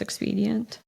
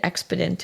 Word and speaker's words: expedient: do you know that I also took weeks to figure out how to pronounce expedient really I kept pronouncing it expedent in my head I can see that for sure like expedite expedient it's like how I